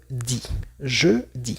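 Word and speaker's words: dis: En el segundo cuadrito tenemos di porque ya sabemos que la s al final no se escucha.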